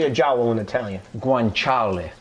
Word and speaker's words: guanciale: Guanciale. Guanciale.